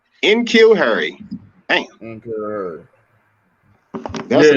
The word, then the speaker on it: N'Keal Harry: But N'Keal, how you pronounce his name, man? N'Keal Harry. N'Keal Harry.